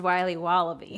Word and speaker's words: Wiley Wallaby: wily's wallabies wallaby wallies will be wobbly it's pronounced wiley wallaby well it's very good it's called wiley wallaby